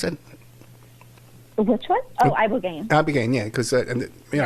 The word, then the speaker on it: ibogaine: How do you pronounce it? Which one? Oh, ibogaine.